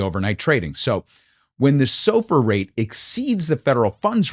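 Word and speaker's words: SOFR: So now let's talk about sofur. And if you grew up on Long Island like me, this might be a little confusing because that's how we pronounce this.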